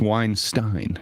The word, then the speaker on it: Weinstein: the exact opposite it's Weinstein not to be confused with the other Weinstein so he's like Einstein it's Weinstein okay okay I've been